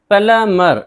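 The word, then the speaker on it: plumber: पढ़ेंगे डेट कर्ज प्लमर प्लमर यहां भी देखिए एमबी है तो बी को नहीं पढ़ेंगे नलसाज वैसे तो पलंबर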